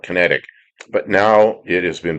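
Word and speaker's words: Kinetiq: It was built by a British company called Kinetic, spelled with a Q. Q, you can it's figured out, Kinetic.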